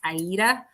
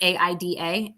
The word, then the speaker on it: Aida: The most commonly one known is Aida. It's sometimes pronounced Aida. It's Aida, and that is more of a basic cross